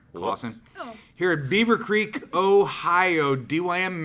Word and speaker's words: Claussen: ministries university baptist church nick claussen pronounced like clayson sorry clawson here at beavercreek ohio